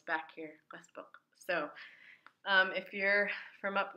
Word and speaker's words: qaspeq: The term Qaspeq came from non-Yupik speakers not being able to pronounce the word Qaspeq because it's very guttural. Qaspeq. I tell people it's back here, Qaspeq.